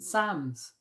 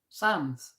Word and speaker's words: Psalms: Oh, so it is pronounced Sams. So maybe it is just some American people's like accents. Sams like that.